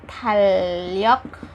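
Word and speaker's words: 달력: Okay, so just like earlier, we have Okay, talyok. It is calendar. When real and real meets, it becomes also, it will be pronounced as double L. Okay, it is pronounced as double L. Talyok.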